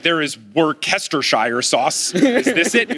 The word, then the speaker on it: Worcestershire: When I had to get Worcestershire sauce, I was in Papado Seafood Kitchen.